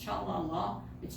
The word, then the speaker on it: Challa: You're saying the name wrong. It's Challa Law Firm.